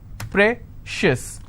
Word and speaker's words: precious: stress on con concious okay precious how many syllables again precious i will stress on pray same thing